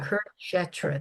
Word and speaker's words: Kurukshetra: Kurukshetra, the Battle of Yeah.